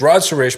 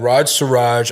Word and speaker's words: Raj Suresh: Because I've had it's Raj Sures, but I've had Raj Surj.